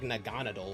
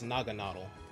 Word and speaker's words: Naganadel: You would think it's pronounced like Naganadel or something like that. It's Naganadel.